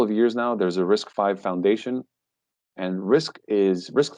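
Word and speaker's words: RISC-V: think of it just at its basics uh risk five that's how we pronounce that right that's not risk v risk is the reduced instruction set right something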